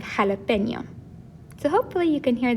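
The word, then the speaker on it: jalapeño: so if it weren't if we didn't have this marker above jalapeno it would sound like jalapeno instead of jalapeno so hopefully you can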